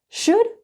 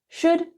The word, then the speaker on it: should: Should sounds like good. It's the same sound. Should, good.